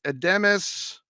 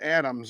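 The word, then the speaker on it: Adames: homers 104 RBI uh Willie ademus I always pronounce this wrong it's not Adams although it looks like that Lindor is a sleeper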